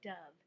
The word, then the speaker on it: dove: Saya wrote about a beautiful bird called a dove. Dove rhymes with love.